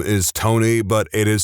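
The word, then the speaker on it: Toeknee: I know a guy whose name is Tony, but it is spelled Tony.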